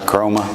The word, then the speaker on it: Chroma: to to launch chroma am I saying it right chroma yeah that's a perfect exactly so well first